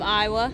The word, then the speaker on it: Iowa: It's spelt like the state of Iowa, so I-O-W-A, but it's But when you pronounced cross that Iowa, border, the A changes. That's just Iowa. the Cajun.